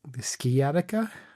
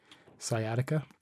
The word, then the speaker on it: sciatica: and something called uh schematic schematica i don't think i'm pronouncing that correctly sciatica sorry sciatica um and uh and